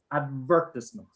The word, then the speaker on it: advertisement: can see right here see the apostrophe here that means that the following syllable is the main stress syllable so here the pronunciation is advertisement first okay so listen to